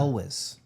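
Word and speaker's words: Elwes: what's his name again Carrie how do you pronounce his last name Elis oh yeah Elis Elis Carrie Elis love him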